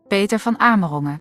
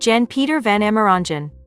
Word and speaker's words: Jan-Peter van Amerongen: was founded in 2011 by two audio engineers— Jan-Peter van Amerongen (Dutch pronunciation) Jan-Peter van Amerongen (American pronunciation) and Bruno Putzeys (Dutch pronunciation) Bruno Putzeys (American pronunciation) They founded it together.